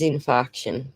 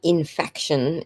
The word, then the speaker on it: infarction: So it is infarction. Thank you. All right. So I said it right the first time. And an infaction is not even a word.